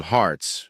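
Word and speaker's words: harts: They used to call them hearts. You spell it like heart, but without the e pronounced the same, though.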